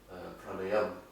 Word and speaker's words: pranayama: But outside India, everyone pronounces the A, like yoga Yoga. and Yoga. yoga. Banda. Band. Pranayama. Yeah. Pranayam. And asana. Asana. So there's no big A at the end. Alright. It's a short A.